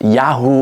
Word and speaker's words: Yahweh: Although the name Yahweh seems to have been pronounced Yahoo or Yahoo at the time.